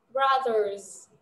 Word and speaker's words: brothers: Brothers, đây là âm Z này, uncles, Z này, fathers, cũng Z, vậy phải đáp án gì?